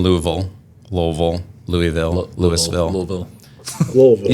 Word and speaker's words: Louisville: is uh in Louisville Louisville Louisville Louisville Louisville Louisville said you said it right lville to the locals equip Expo in October and